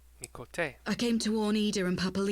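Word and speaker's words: Miqo'te: I've been pronouncing Miquote, incorrectly this whole time. Miquote.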